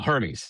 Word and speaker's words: Hermes: How do you pronounce it? Oh, Hermes. Oh, Hermes.